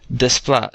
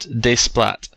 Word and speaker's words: Desplat: his name is pronounced Desplat, not Desplat. Remember, the T is usually silent in French words when it's at the very end.